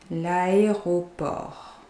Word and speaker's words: l'aéroport: So you pronounce the R. Here you don't pronounce the T at the end. L'aéroport.